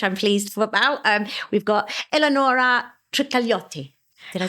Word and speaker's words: Eleonora Trikalioti: We've got Eleonora Trikalioti.